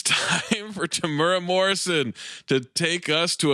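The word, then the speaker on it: Temuera: this guy's name Tamera tamura tamura now it's tamura Morrison hey Zach it's not today it's not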